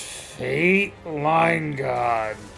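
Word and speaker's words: Fayt Leingod: It's not spelled like the way you'd want it to be. F-A-Y-T. F-A-Y-T. L-E-I-N-G-O-D, I believe. Yeah. But it's pronounced Fate Line God.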